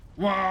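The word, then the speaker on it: WAAAGH: There's a famous orc battle cry that goes like, "Wah!" which is spelled with like, you know, all capitals, WAAAAAAAAGH. Which after a while, I think it's supposed to sound like they're shouting war.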